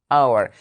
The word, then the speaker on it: hour: I said an hour because the letter H here is silent correct so it gives a vowel sound hour this is different from